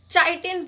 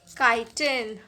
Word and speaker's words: chitin: अब बहुत सारे बच्चे CHITIN यानी कि इस वर्ड को चाइटिन पढ़ते हैं, but that is wrong pronunciation. इसीलिए मैंने यहाँ पर लिखा भी है that this is नॉट चाइटिन, इट इज़ काइटिन.